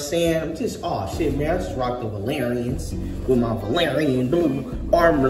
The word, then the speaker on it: Valerian: choosing these Valerie joints the Valerian rhymes with Aquarian DeLorean valorian is that Village